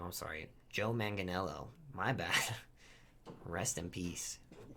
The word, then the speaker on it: Joe Manganiello: also destroyed uh i'm pretty sure it was joe mangelli who played uh you owe me oh i can't say his name i'm sorry joe manganiello my bad rest in peace um like i